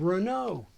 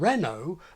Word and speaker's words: Renault: puts the same vowel in both Baroque and Renault and many speakers use it for a third French vowel as in macron president macron Mrs mccrown British Baroque and Renault are hardly digital copies